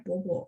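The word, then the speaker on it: 伯伯: 伯伯, setahu saya dia memang bacanya bobo. Mungkin Taiwan tuh bacanya yang ditulis ibu bebe. Bebe itu mungkin apa namanya? Bahasa Hokkien ya. Ape ya, gitu ya. Tapi kalau setahu saya dari dulu bahasa Mandarin bacanya bobo ya.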